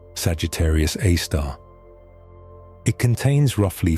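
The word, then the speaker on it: Sagittarius A*: This object is known as Sagittarius Aar pronounced Sagittarius A star.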